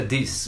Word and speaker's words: dix: nesse nessa nossa parecia o termo Dixie na verdade se pronuncia diz em francês que significa 10 essas notas e como